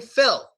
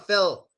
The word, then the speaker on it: Phil: My name, Phil, ends with the L sound. And I advise you to pronounce the L. It's a good idea to say Phil. Phil. But in America, my friends, they never pronounce the L. They don't pronounce it at all.